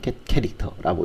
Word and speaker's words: getchar: 문자열을요 입력으로 받고 또 출력하는 라이브러리들이 C에서는 제공되고 있는데 그 입출력 라이브러리에 있는 입출력 함수들이 보면 get char 혹은 get character라고 읽는데요.